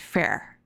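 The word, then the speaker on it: fëa: an incarnate being okay it's spelt like fear but pronounced fair i'm doing a terrible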